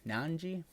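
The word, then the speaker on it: Nnaji: It's two N's, so its last name is spelled Naji. So Nanji.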